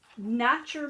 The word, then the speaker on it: Notcher: name so that'll help but not your mama's mud is spelled n-o-t-c-h-e-r not your mama's mud